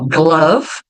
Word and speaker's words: glove: Ó, glove. Não pronuncio o E.